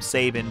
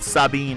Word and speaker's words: Sabin: That's kind of a tentative way to pronounce it. I still call him Sabin, but Sabin is definitely possible.